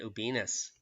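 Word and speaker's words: Ubinas: 19,000 at Ubinus, which rhymes with penis.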